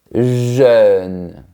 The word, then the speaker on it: jeune: On commence par le mot jeune. Pour bien prononcer ce mot, il faut projeter les lèvres de manière verticale, jeune.